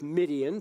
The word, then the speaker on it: Midian: And for those of you who think this sounds familiar, you can think of a name that rhymes with Midian to know what that's all about. And the name is Gideon.